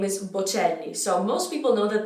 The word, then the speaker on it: Bocelli: So it's not Bocelli, it's Bocelli. Bocelli. There is a double L in this name. So the double consonant needs to be pronounced.